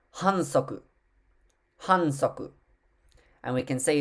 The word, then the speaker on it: hansoku: The next one is a foul, pronounced, which is pronounced hansoku.